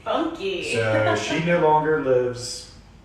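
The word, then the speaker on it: Funke: the living roommates Bethany think f-u-n-k-e um funky funky so she no longer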